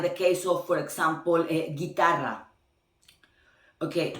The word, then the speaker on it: guitarra: Okay, in guitarra, you see that the U does not exist. And it's still like G, I. Okay, because when you want, then the phonetically sound need to be G, it need to be the U between, and the U is silence.